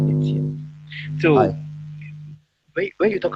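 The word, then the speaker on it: Étienne: My name is pronounced Etienne.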